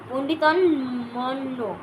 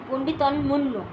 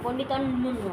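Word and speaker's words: পণ্ডিতম্মন্য: যে পন্ডিত পন্ডিত পন্ডিত পন্ডিতন্য সরি আমার উচ্চারণে ভুল হচ্ছে আপনাকে পন্ডিতনে মনে করে যে তাকে কি বলা হয়? পন্ডিতন পন্ডিতন মুন্্য। ঠিক আছে? পন্ডিতন মুন্্য হবে।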